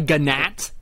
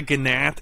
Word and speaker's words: gnat: Sorry, a gnat. A gnat. It happened. The G is silent.